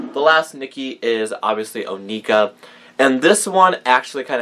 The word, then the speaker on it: Onika: that this is spelled although it is Onika it looks like anuka and I thought for the longest time her name was anuka and it took me